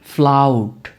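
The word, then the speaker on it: flout: উচ্চারণটা কি হবে? ফ্লাউড।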